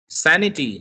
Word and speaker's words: sanity: Sanity, sa is stressed.